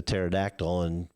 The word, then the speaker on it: pterodactyl: of those being the pterodactyl. But you know why you can't hear a pterodactyl go to the bathroom? I'll let you have it. No, go ahead. It's because the P is silent.